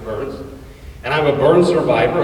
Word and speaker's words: Byrns: ain't it interesting that my last name is pronounced burns and i'm a burn